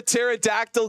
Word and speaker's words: pterodactyl: can't you hear a pterodactyl go to the toilet because the p is silent that is a good